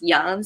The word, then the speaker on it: Yang: My name is Young, but because it's pronounced Young, so on Facebook my last name is Young instead of Yang, because people usually mispronounce it.